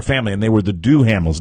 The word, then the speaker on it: Duhamel: to me, I was watching a movie last night, a pay-per-view movie with Josh Duhamel. Is that the way you pronounce his last name? Duhamel. Duhamel.